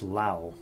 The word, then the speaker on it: Laos: what do you know it actually is pronounced Lau I'm guessing that it was french-influenced maybe I'm just calling that